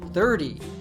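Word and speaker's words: thirty: We say it with an American T, 30, 40, 50, etc. But we say the teens with a true T sound.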